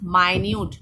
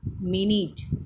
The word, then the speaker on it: minute: So the pronunciation is minute, not minute.